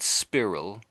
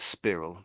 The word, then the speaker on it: spiral: You said spirill, but it's actually Yeah. Go on. Yeah. And actually how it should be. See, it does look like spiral, but we pronounce it as spiral.